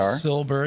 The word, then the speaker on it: Silber: in my name silver make sure you spell it ma RC yep si si el ber si el BER silver same thing in Amazon you can